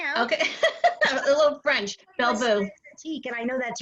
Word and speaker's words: Belle Vous: Belle Vous.